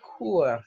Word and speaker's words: court: your hair can be court. Everybody say court. Everybody say court. Court. Court. All right, so we don't pronounce the T's at the end of the French words normally.